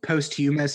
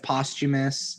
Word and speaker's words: posthumous: only read them yeah but I hate when people say Posthumus instead of posthumous yeah or Archipelago instead of Archipelago yeah but you corrected yourself on the posthumous thing cuz I think